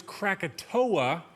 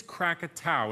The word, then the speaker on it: Krakatau: crumpit ow now most people know it as Krakatoa but the correct pronunciation is crack at ow and today August 26 just so happens to